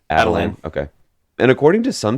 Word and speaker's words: Attilan: And he is fiercely loyal to the inhuman royal family of, I think you pronounce it as Attilan, or maybe Adelan.